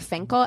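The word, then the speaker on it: Fencl: her maid lillian it's spelled fancy but it's pronounced like finkel everything i've said has looked like finkel so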